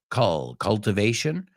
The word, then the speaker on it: cultivation: cultivación, cultivation, we say, no es cultivation, vamos a pronunciarlo, por favor, cultivation, culture, right? Culture, cultivation. He oído culture, culture, cultivation. Otro, production, no es production, production. Palabras que reconocemos, pero las he oído pronunciadas mal miles de veces, te lo juro. I swear to God. So say them with me. No, el momento que cultivation, cultivation, production, it's that schwa sound, production.